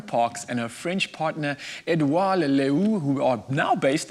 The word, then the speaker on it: Edouard: South African Lauren Parks and her French partner Edouard Leleu, who are now based in the French Alps region of France, which is just outside of a town called Annecy. And it's bonjour to Lauren and Edouard, I believe.